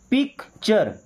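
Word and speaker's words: picture: अब देखिए जब टी यू आर इ रहेगा इसे हम पढ़ते हैं चर। ट्यूर नहीं पढ़ेंगे। क्या पढ़ेंगे? चर जैसे पिक्चर क्या बना? पिक्चर।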